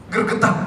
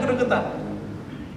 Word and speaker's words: gregetan: Maka di kitab ini dia mengatakan sebuah kalimat yang saya juga agak bukan merinding ya, gergetan gitu, Pak. Bacanya gregetan.